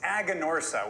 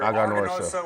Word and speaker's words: Aganorsa: well first you have it's aganorsa we hear aosa we hear agon Ora we hear all sorts of things be honest with you